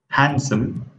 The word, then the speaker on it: handsome: The first letter is the letter D. Wednesday. Sandwich. Handsome. Badge. Edge. We can see that we did not pronounce D letter here.